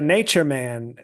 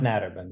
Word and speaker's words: Naturman: It's pronounced Naturman, yeah.